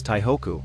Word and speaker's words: Taihoku: during the Japanese rule taipe was known as taihoku which is the pronunciation of the Chinese characters kanji for taipe in Japanese prior to the significant